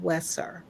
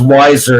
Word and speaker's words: Weisser: the name of wesser and did I pronounce that last name correctly no actually it's pronounced wiser as if it were